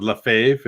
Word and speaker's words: Lefebvre: It's Lefebvre, I believe it is. But in the States, it's Lefebvre because there was a manager named Tommy Lefebvre, but it's spelled Lefebvre. So okay. I remember I used to always watch the TV and be like, "Why are they calling him Lefebvre?" It's Lefebvre. Instead of Lefebvre.